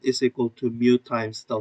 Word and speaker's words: mu: out with the roman alphabets as mu u pronounced like mu not moo at I do um it's a mass of